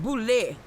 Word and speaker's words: Boulay: I mean, it's pronounced Boulay. It's Bougele. It's Boulay, okay. Luke broke it down in syllables.